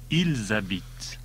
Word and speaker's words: ils habitent: That's when the verb starts with a vowel or H. In that case, the S of il, I-L-S, gets carried over and pronounced. Il habite. He lives. Ils habitent.